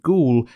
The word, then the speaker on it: Goole: It is often noted that the inspector’s name, ‘Goole’ sounds like the word ‘ghoul’, meaning ghost or spirit,